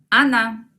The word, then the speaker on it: она: Ella es она. Miren la transcripción. Ana. Ana. El equivalente de nosotros es мы.